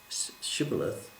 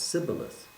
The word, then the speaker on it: shibboleth: to cross over they asked the aphromites to pronounce a particular word shubalath but because of some dictum and difficulty they could not pronounce shibboleth they pronounced sybilis and this was a